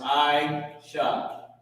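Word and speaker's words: עשה: This word is pronounced Aisha.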